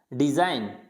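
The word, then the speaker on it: design: डिजाइन, डिजाइन, यहाँ पे जी नहीं बोला जाएगा, यानी डिजाइन।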